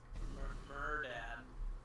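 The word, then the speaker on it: Mehrdad: Murdad. I don't know, that's how you say his name or not, but that's how I'm calling him today. Is he like a mermaid dad? No, it's like M-E-H-R Dad. Is his name.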